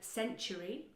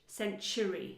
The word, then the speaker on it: century: We have the word century. Now, if you look at that word, it's very easy, but I want you to really pronounce century. You see, you've got a ch sound.